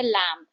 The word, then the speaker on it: lamb: जैसे कि वर्ड है लैम, LAMB, राइट, जो एनिमल होता है, उसमें हम बी को प्रोनाउंस नहीं करते हैं, हम खाली लैम कहते हैं, एम तक आता है बस प्रोनाउंसिएशन।